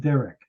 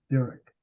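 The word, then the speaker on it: דרך: Caleb Sarah told my own uh it's actually pronounced Derek Derek and Derek is your path as you walk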